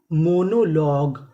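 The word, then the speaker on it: monologue: अब यहां पे जी यू ई लिखा है तो इसे क्या पढ़ना है? ग। तो मीनिंग क्या बनी? मोनोलॉग।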